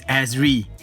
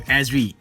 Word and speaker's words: Azri: First of all, the name is Azri. That's how you pronounce the name, Azri, also known as.